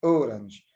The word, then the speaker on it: orange: But the word o, orange, the first syllable is stressed.